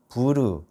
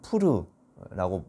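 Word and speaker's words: פור: 유대절기인 이 부림절은 방금 우리가 읽은 본문에도 나오는데 부르 혹은 푸르라고 이제 발음하는 제비뽑기 혹은 뭐 주사위라고 이제 번역할 수 있을 것 같아요.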